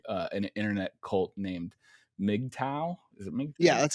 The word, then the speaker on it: MGTOW: you are investigating uh an internet cult named mgtow yeah that's how you say it but before